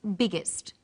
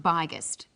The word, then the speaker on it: biggest: extra G that's right the extra G tells us that the word is pronounced biggest and not byest what's another example hot